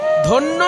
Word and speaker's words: ধন্য: ধন্য শব্দটাকে হিন্দির মতন একটু ভেঙ্গে উচ্চারণ করুন উচ্চারণ হবে ধ্যান জ ফলাটা ই উচ্চারণ হয় না ধন্য বাঙালি বলে হিন্দিতে